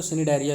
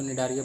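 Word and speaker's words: Cnidaria: अब आते हैं, इसी में आता है कोलेंटेरेट्रा या फिर तो सिनिडारिया भी बोलते हैं उसको, है ना, या फिर तो निडारिया बोल दो, सी साइलेंट कर दो, कुछ फ़र्क नहीं पड़ता उससे।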